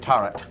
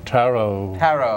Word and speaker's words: tarot: my tarot and uh or is it turret no tarot is the proper pronunciation wonderful I just wasn't